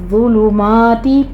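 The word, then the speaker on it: ظلمات: फिर ज़ुलुमाती, ज़ा के ऊपर तशदीद है, सख्ती करेंगे लेकिन सीटी की आवाज़ नहीं आनी चाहिए, आपने ज़ा को नरमी से साइलेंट आवाज़ के साथ पढ़ना है।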